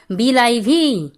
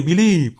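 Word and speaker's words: believe: শরীর কেমন করছে রে এমন উচ্চারণ করিস না বাবা ওটা বিলিভ হবে বিলিভ আচ্ছা ভয়েস চেঞ্জ বলব এটার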